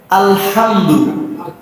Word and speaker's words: الحمد: আমরা কই আলহামদু, এই হামদুটা হামদু বানানোর সহজ সিস্টেম হলো প্রথমে বাতাস বের করবো গলা দিয়ে, হাম। শীতের দিনে আমরা গাল থেকে ধোয়া বের করি না, ওই রকম ভাবে হা উচ্চারণ করবো, আলহাম। সহজ হয়ে গেছে, আলহাম দু দু। একটা হলো দো আর একটা হলো দু। এটা হলো ঠোঁট গোল করে বলতে হবে, দু। আলহামদু আলহামদু, এই তো হয়ে গেছে।